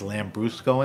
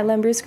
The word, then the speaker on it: Lambrusco: talk to me about exciting sparkling wines is lamb Brusco in the game oh my gosh absolutely absolutely lamb Brusco is a red sparkling tell me what lamb Brusco is yeah Lambrusco is a a red sparkling wine right and